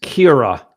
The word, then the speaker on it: Kyra: By the way, Kyra is Kira. I mispronounced her name.